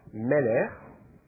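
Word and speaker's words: מֶלֶךְ: Vous vous souvenez du mot roi, meler, c'est un ségolé. J'insiste parce que l'accent et sur la première syllabe et pas sur la dernière.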